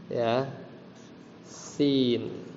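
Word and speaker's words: يس: tuh bacanya salahnya bacanya bukan begitu harusnya Yasin dua harakat y Yasin tapi mungkin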